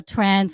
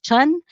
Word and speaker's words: Tran: It's about the well, how we say in North America, Tran family, but in Vietnamese is pronounced as Chun.